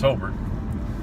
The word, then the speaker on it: Hobart: Because everybody knows in the region, it's Hobart. But how many different pronunciations have you heard? Oh, I've heard it doctored up so many different. Hobart, Hobart, Hobart.